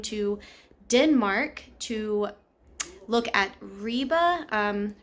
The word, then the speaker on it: Ribe: finally made it to I believe it's pronounced Riva I looked on the uh internet like Google and that's what I found so we had finally